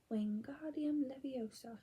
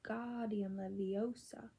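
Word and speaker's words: Wingardium Leviosa: having much more luck W Leos he shouted waving his long arms like a windmill you're saying it wrong Harry heard hery snaap it's when God leosa make the the gar nice and long you do it then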